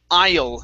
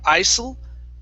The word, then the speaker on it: isle: let's go to um the word isle instead of isil okay it's isle the s is silent island good so it's